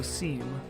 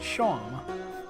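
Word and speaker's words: Seam: and you're like Oh seemed pronounced Sean the remaining king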